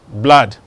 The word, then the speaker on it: blood: It's not blood, it's what? Blood.